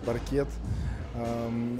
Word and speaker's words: паркет: и выхода на паркет правильно говорить паркет это конечно же потом